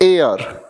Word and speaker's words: heir: हम बात करते हैं तो इसकी प्रोनाउंसिएशन होती है AR।